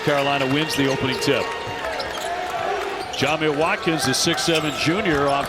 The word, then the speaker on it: Jamir: I knew to pronounce it Jamir.